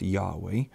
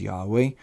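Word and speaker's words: יהוה: Most scholars believe this was originally pronounced Yahweh. And if you read God's name as Yahweh, I welcome you to reverently do that. I'll be reading God's name as Adonai, which is the Jewish tradition, which means like my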